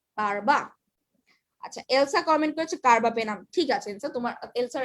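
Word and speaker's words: carbapenem: কিন্তু এলসা তোমার কিন্তু কার্বাপেনাম বানানটাই একটু ভুলেছে, উচ্চারণ যদিও কার্বাপেনাম, তোমার স্পেলিংটা হয় কি PENEM, ঠিক আছে, এটা সবাই মাথায় একটু খেয়াল রাখবে যেটা স্পেলিংটা কি।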